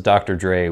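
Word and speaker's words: Dr. Drey: So this is Dr. Dre, D-R-E-Y. And he says, pronounced the same as Dr. Dre, D-R-E.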